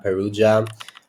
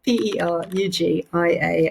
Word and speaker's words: Perugia: Normally people in this UK say Perugia. But actually, the way you've said it is much closer to how my dad says it, which is the correct pronunciation.